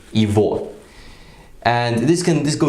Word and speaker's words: его: yeah good or but we don't say year go we say evil because the because you know when those presents are together in Russia we pronounce the gut letter as over and because in a letter in a word like evil they always stressed the year will become here will sound like e so instead saying you